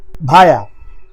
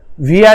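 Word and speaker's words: via: भाया, भाया means से या के रास्ते, इसको विया भी प्रोनाउंस करते हैं। आप चाहे तो भाया या विया दोनों बोल सकते हो।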